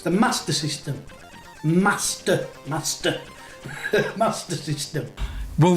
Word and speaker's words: Master System: going with the mispronunciations there's no r between the a and the s in master it's not mars master system leif retro 1 and